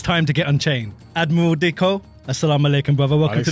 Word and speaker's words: Diqo: Admiral Diqo, assalamu alaikum, brother. Welcome to the show. Brother. Thank you for having me. Did I pronounce your name right? Diqo is the typical pronunciation.